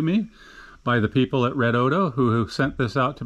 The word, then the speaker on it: REDODO: uh upgraded it and renamed it to the red odo that is the way it's pronounced uh that was told to me by the people at red odo who sent this out to me for a